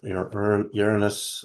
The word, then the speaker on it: Uranus: So Uranus, as people pronounce it, I pronounce it the Greek way, which is Uranos.